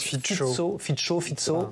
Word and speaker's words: Fico: On va commencer peut-être par rappeler que Robert, alors je crois qu'on prononce Fico.